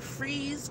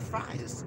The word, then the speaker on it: fries: You may call it fries, because that's how it looks like it's spelled, but in Wilmington and the surrounding cities, we call it freeze. That's right. Freeze. Spelled F-R-I-E-S.